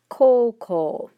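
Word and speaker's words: こうこう: it with the o's it's ko uh but pronounced coco okay so you're going to have to make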